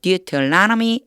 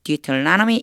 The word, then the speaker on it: Deuteronomy: 나누어서 암송을 해 보도록 하겠습니다 신명기가 조금 어렵죠 미라고 읽어요 deuteronomy deuteronomy 이렇게 읽는다는 것도 한번 봐 주세요 자 신명기